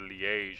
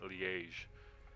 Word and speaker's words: Liège: the Liege Maximo, and I heard Waza calling it the Liège, and I thought that sounds dumb, and I looked it up, and he was right. Yeah, so I went back to calling it Liège.